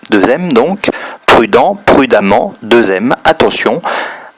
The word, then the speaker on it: prudemment: on double le m prudemment attention le eux se prononcent a donc lui répète pour